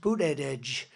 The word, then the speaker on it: Buttigieg: And Buttigieg, you know Buttigieg? You know, years ago I said, how do you pronounce that damn name? And they said, edge, the word edge. That's the way it's pronounced, Buttigieg.